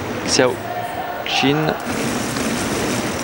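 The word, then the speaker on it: Xiao Qin: tchao chine je peux très bien mais on prononce sur le tas d'autres ça xiao xin qui est très très bon généraliste très fort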